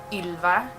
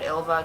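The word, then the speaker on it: Ylva: pronounce my name um in Sweden it's pronounced like a different different way it's has this really kind of Swedish accent Ila but whenever I moved outside of Sweden I just said ilva cuz it's so much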